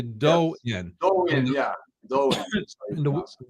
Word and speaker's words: Do-In: Now I mispronounced. I said Do-In. It's actually Do-In.